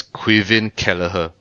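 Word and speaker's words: Caoimhín Kelleher: So it's pronounced as Quivven Kalaher.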